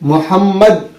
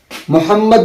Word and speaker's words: मोहम्मद: जो होता है, तो हमको यहाँ पर मोहम्मद में हमको मीम के ऊपर तशदीद दिया जाता है। तो वो तशदीद दिया हुआ नहीं रहता है, उसको पढ़ना पड़ता है, वो अपना दिमाग लगाना